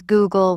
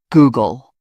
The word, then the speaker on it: Google: Some pronounce Google with stress on the gle. It's Google.